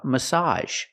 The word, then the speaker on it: massage: let's get started first let's learn the words that end with ag and make the sound a like garage we also have massage massage is a countable